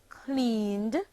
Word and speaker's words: cleaned: The verb clean, clean, becomes the past tense verb cleaned, cleaned, and is pronounced cleaned, having only one syllable.